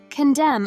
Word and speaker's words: condemn: condemn your racist comment pay attention to the pronunciation the ending n is silent according to the English pronunciation rules words ending with MN usually only pronounce the M sound condemn originally has two syllables which is pronounced as condemn however its noun form condemnation has four syllables which is pronounced as condemnation and the n will